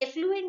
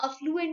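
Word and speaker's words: affluent: तो कई बार कुछ लोगों को मैंने ये बोलते हुए सुना है that we are from एफ्लुएंट family, तो एफ्लुएंट नहीं होता, वहाँ अफ्लुएंट होता है।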